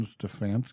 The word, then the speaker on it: Stefanski: Stefanski, how do you pronounce it? Kevin Stefanski?